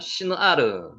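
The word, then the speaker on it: שִׁנְעָר: 비카, 베 에르츠, 시누아르. 비카. 신할을 네, 시누아르라고 발음합니다.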